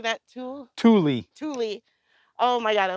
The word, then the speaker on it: Thule: Thule.